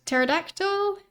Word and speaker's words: pterodactyl: Then uh I I think the name of this one you you pronounce it pterodactyl. I think the P at the start of the word is silent.